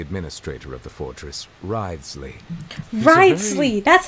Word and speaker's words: Wriothesley: Wriothesley! That's how his name is shrewd pronounced.